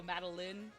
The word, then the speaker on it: Madeline: Madeline spelling, but, like, think Fire Emblem Lyn, but then add Mada in front of it. So Madeline. Well, Lyn Fire Emblem, Lyn Inazumi, like that Lyn, but Madeline.